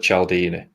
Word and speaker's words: Cialdini: His surname is spelled Cialdini. So it's Robert Cialdini.